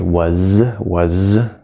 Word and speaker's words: was: Was. Common mistake. It's spelled with an S. It's a Z.